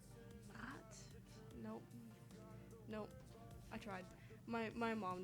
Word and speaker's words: Nacht: Well, it's actually spelled Nacht, like the German version of night. Actually, I think it's pronounced not.